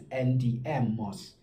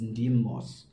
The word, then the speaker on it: NDM Moss: Yeah, from Khayelitsha, Cape Town, otherwise performing as NDM Moss. The other way to actually pronounce it is Ndim Moss, because no cause.